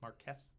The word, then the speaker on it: Marquis: him a Mark um Marquis Marquis Marquis however you want to pronounce it it's Marquess it's Mark it's Marquis M8 are q-u-i-s uh it would be